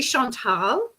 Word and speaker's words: Chantal: Yes, you did, but I will just, it's about, sorry to interrupt you, but it's actually Chantal.